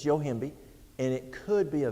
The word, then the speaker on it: Yohimbe: I spell phonetically. But it's Yohimbe, and it could be a vasodilator and help.